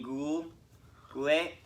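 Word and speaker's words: Guhle: Any defensive note, Braden Schneider, Bowen Byram, Kane Goulet, I think is actually how you say it.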